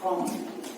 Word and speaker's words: comb: Same thing like comb.